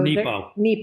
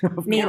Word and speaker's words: Nepo: So Nepo. Mark Nepo. Did I say it wrong? Nemo. course. I said Nemo.